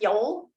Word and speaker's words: Yule: um one of them is called yule y-u-l-e pronounced yol and was a nordic celebration observing the winter